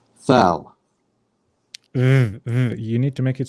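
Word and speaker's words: ذال: Thal. val. Thal. So Thal. how do you pronounce the word the? The. Yeah, so you don't say th, you say the.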